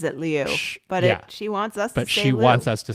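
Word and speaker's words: Liu: I do know Mandarin and I do know Cantonese and I do know that it is pronounced Leo. Um it's actually pronounced Leo.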